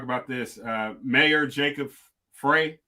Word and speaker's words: Frey: this uh mayor jacob frey is that how you pronounce it frey uh fry okay uh has suspended no